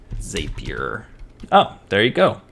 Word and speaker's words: Zapier: How to say Zapier. Oh, there you go. Rhymes with happier, so Zapier.